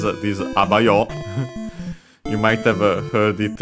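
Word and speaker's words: あばよ: And last but not least, he says this abayo. You might have heard it in anime or video games. It's a colloquial way to say bye, accented actually on the first syllable, on the a.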